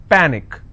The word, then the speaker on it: panic: with icy picnic okay the rule says in case if you have any word that's ending with ic the stress should be on the last but one syllable so let's break this panic is per nick which means i will stress on pa and it's pronounced at